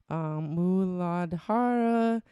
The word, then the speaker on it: Muladhara: Muladhara.